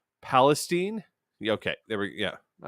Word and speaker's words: Palestine: I'm going to try and pronounce this the Ohio way. Palestine.